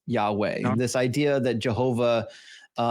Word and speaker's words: Yahweh: uh the PaleoHebrew um had imply vowel patterns and Yahweh most likely from all scholarly reconstructions would have been pronounced pronounced as Yahweh.